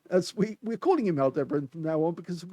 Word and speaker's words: Aldebaran: by Al Dean as we we're calling him Al debran from now on because of course um it it doesn't seem right to actually call it groudy Baron Toro um because that's not the correct way of